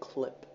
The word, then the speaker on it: CLEP: clip clap it's pretty it's spelt c-l-e-p but you pronounce it clip as in c-l-i-p it is may the